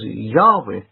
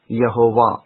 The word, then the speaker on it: Yahweh: stating the case that all early Greek writers found the name to be pronounced as Yahweh, not Yehovah, at any point in history.